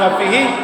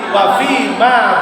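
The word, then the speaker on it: وفيما: Nah, wa fi ma bukan wa fihi, wa fi ma ba'dal maut. Ya.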